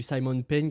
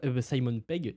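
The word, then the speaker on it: Simon Pegg: On sait aussi que Pom Clément serait de retour par rapport au précédent film, qu'il y aurait du Simon Peng et plein Simon Peg, excusez-moi, du de la prononciation du nom et euh plein d'autres acteurs mais je me rappelle plus des noms.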